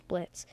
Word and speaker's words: Blitzo: If you didn't figure, my name's Blitz." The O is silent.